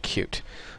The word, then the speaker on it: Qt: be covering it's called cute it's spelled QT but it's pronounced cute and when you search